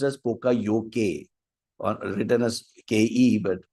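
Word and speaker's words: poka-yoke: of our now there is one important lean concept we call it as pokayoke poka yoke pronounced as poka yoke or written as ke but no it's pronounced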